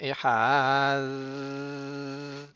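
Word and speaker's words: אחד: pas avec un Dagesh, il le prononce un petit peu comme un Zayn. Donc ça va faire Ehad plutôt que Ehad parce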